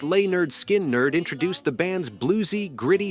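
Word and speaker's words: Lynyrd Skynyrd: mocking their gimm teacher their 1973 debut album pronounced lay nerd skin nerd introduced the band's Blues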